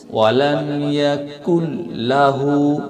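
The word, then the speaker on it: ولم يكن له: ছোট কাফ ওয়ালাম ইয়াকুল্লাহ আমরা এখানে অনেকেই বড় কফ ব্যবহার করি যেমন এটা হচ্ছে সঠিক ভুলটা হচ্ছে ওয়ালামু ওয়ালামু এটা হচ্ছে ভুল সঠিকটা হচ্ছে ওয়ালাম ইয়াকুল্লাহু পাতলা হবে ওয়ালাম ইয়াকুল্লাহু দ্বিতীয় আরেকটা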